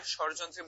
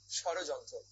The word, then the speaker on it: স্বরযন্ত্র: আর স্বরযন্ত্রের মূল কাজ কি? স্বরযন্ত্রের মূল কাজ আমাদের স্বর উৎপন্ন করা। খেয়াল করো, আমি কিন্তু উচ্চারণ করছি স্বরযন্ত্র, নট ষড়যন্ত্র।